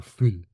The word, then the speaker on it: fuil: in Scotland uh so the actual Gaelic pronunciation is f or fool and if someone calls